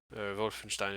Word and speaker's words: Wolfenstein: and vote Finch Stein yes that Wolfenstein vote from Stein if you would pronounce it relatively properly so let's say you